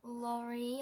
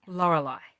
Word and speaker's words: Lorelei: And Laurie or something. Lorelei.